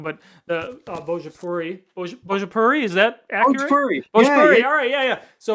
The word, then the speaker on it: Bhojpuri: I'm pretty sure it was in, and I'm going to pronounce it wrong, but the Bhojpuri, is that accurate?